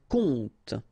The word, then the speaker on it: compte: And the first one is un compte. Un compte. And here you will have the translation. Un conte, so exactly the same pronunciation, but then of course the meaning is different.